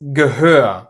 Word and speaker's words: Gehör: So, it is Gehör, not Ge-hör. And Behalten, not Be-halten.